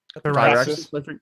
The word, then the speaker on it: Firaxis: How do you pronounce their name? Firaxis.